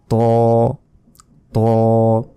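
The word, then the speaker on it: ط: উচ্চারণটা হবে ত ত এটা কিন্তু মোটা ভাবে উচ্চারণ হবে বাংলায় যে এমনি ত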